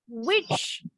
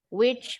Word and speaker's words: which: ada ininya Hammer fonts-nya Which yang mana dengan Which penyihir bunyinya sama Which Which Oke kita lanjut lagi